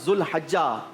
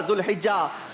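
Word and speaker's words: ज़ुलहिज्जा: आपने कहा 18 ज़ुल्हिज्जा, सही प्रोनाउंसिएशन है 18 ज़ुल्हिज्जा।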